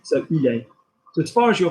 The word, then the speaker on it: il est: after that, T, so il est. So as far as you're concerned, that is pronounced the same as tu es, which is, yeah, okay, great.